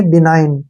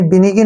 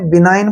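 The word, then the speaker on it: benign: में ही करना है जी यहां पर साइलेंट रहेगा और एन का उच्चारण न करना है इसको पढ़ना है हमने बिनाइन ठीक है ना आपने बिगिन नहीं पढ़ना है बिनाइन पढ़ना है यहां पर जी साइलेंट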